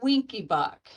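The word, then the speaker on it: Wenckebach: A secondderee type one is also called a winky buck.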